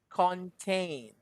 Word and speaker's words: contain: Contain. Con. Content. Mhm. Content. That's con for the first syllable, and tain. It's like tay, and then a big N, a stress on the end. Tain. Contain.